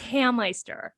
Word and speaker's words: Hameister: of actually starting to say my name right because of the Meister. I'm like, but at the same time, you totally made my life hell because they love saying the Meister, the Hameister.